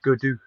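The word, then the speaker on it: Gaudu: today what's his name oh uh it's david goodwoo they do yeah yeah thank you and all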